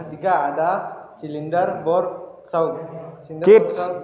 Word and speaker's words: gauge: Gauge, bacanya gauge ya.